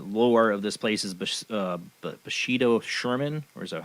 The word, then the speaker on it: Bathsheba Sherman: and what the lore of this place is Bathsheba Sherman, or is that how you say it? Bathsheba Sherman.